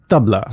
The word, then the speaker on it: tabla: everything right so table is it tablea or tablea it's the tbla tbla so tbla is how we would say it so um the so